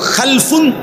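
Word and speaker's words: خلف: হয় আরবিতে একটা হল খালফুন আরেকটা হল খালাফুন একই শব্দ শুধু উচ্চারণের মধ্যে একটু ভিন্নতা মাঝখানে একটা লাম আছে এই লামটার মধ্যে যদি সাকিন হয় তাইলে হল খালফুন আর যদি লামের মধ্যে জবর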